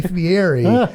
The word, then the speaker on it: Fieri: us spell defieri well you pronounce ITI Fieri especially to his face he will be upset so it's Guy Fieri but yes thank you